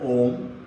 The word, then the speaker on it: Om: It's in Sanskrit, in Sanatan Dharma, they discovered Om, A, U, Ma, Akar, Ukar, Makar. But this is not only in the Sanatan Dharma.